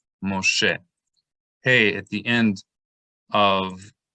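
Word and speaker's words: משה: When the mem comes immediately before the Shin, this dot will sometimes serve another purpose, two purposes. So it both makes the Shin a Shin instead of a Sin, and it also functions as a Holam vowel, which makes an O sound. So Mo, and then the Shin, She. Shin plus Segol is E, Moshe.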